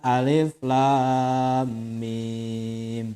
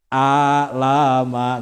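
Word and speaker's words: الم: Jadi diawali dengan kalimat alif lam mim. Nah, itu kan. Maka dibacanya itu ya harus ngaji, makanya nanti kalau nggak ngaji dibacanya jadi alama gitu ya.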